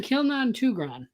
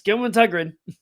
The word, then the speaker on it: Kilman Tugren: I've been saying Kilnon Tugran. It's Kilman Tugren.